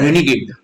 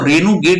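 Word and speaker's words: renegade: word अगला word है रेनेगेड अगला वर्ड है रेनेगेड रेनेगेड का मतलब क्या होता है ठीक है इसको रेनू गेट भी पढ़ा जाता है अलग-अलग जगह री नॉर्मल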